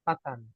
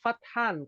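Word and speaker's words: فتحان: suka mengumbarkan fitnah nih namanya siapa Fathan kalau tulisan ejaan Indonesia t h a n f a t h a n Fathan kemenangan artinya keberhasilan kesuksesan seperti itu Oh jadi jangan sampai salah baca ya ya ya fahimtuna insyaallah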